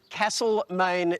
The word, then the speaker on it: Castlemaine: we are in now i would pronounce it castle maine but the locals call it castlemaine and because there are